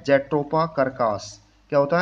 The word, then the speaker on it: curcas: Name होता है jatropha कर्कास। क्या होता है? Jatropha Kirkus. कर्कस को स्पेलिंग ये है CURCAS, कर्कस। तो जेट्रोपा कर्कस होता है इसका वनस्पतिक नेम।